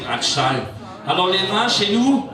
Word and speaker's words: bretzel: C'est le seul endroit où vous trouverez aussi la vraie bretzel, prononcée bratschal.